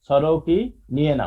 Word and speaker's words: sorokiniana: সরোকিনিয়ানা উচ্চারণ শিখবা। সরোকিনিয়ানা। স্যার বানানটা বলেন স্যার। SOR সরো কি KI NIANA নিয়েনা, সরোকিনিয়ানা। হ্যাঁ, সরোকিনিয়ানা।